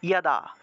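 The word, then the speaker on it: যদা: বললে তো যোদাযোদাহি, এক্ষেত্রে যোদা না বলে উচ্চারণটা হবে ইয়াদা, ইয়া দা, এইভাবে উচ্চারণটা আসবে।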